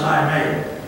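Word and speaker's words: εἰμί: One of them is the Greek word, I may. Spelled E-I-M, it's pronounced I may.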